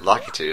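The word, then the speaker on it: Lakitu: I have no idea I used to say lyu but a lot of people pronounce it litu so I kind of switch to that now there's a cool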